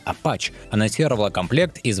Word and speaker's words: Aputure: Компания Aperture, или как правильно говорить, Apache, анонсировала комплект из 8 светодиодных ламп Aperture Ascent B7C в специальном кейсе, который служит одновременно и зарядным устройством.